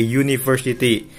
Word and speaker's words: university: Misalkan kalau misalkan kita bacanya you, ya kan, a uniform, yang dibacanya kan you ya, y itu a uniform, ya kan, a university, enggak yang an uniform atau an university, enggak, tapi pakainya karena yang dibacanya you gitu kan.